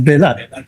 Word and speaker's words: Belat: pagong, pusa, etca, ah belat. Okay. Belat. Same ka ' ba magulat sa bisaya yung pronunciation niyan eh. Sa tagalog basisaya bilat yun eh. Kasi 'yung E nagiging I eh.